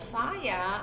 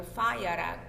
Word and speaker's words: Falla: But the Falla, actually, or Falla rather is the correct way of pronouncing his name, once Franco came to throne or to politics, when he decided came to power.